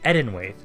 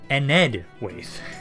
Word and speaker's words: Enedwaith: I've been saying Edenwaith. Enedwaith is the actual proper pronunciation, and I only realized that when I misspelled their name in the polls.